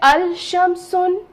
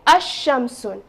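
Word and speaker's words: الشمس: i have the sun so can i say al-sham sun it doesn't make sense right it it doesn't look you know nice okay while pronouncing so i will say asham soon now you notice that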